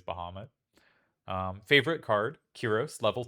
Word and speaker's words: Bahamut: Favorite summon, Bahamut, which I usually pronounce Bahamut, but I think it is Bahamut.